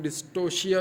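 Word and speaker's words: dystocia: और reproductive problems भी ये हो सकते हैं कि डिस्टोकिया हो सकता है, डिस्टोकिया या प्रोनाउंस कुछ लोग डिस्टोशिया भी करते हैं, बहरहाल डिस्टोकिया हम तो पढ़ते हैं।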